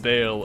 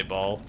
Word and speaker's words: Baal: Warhammer 40K's in my in my court, but it's pronounced Bale in game, but I still say Ball.